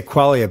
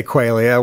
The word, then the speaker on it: Qualia: Well, it might be pronounced Qualia. Didn't quite figure out how it's pronounced, but... Yeah, we would generally say Qualia, but you can say Qualia, why not?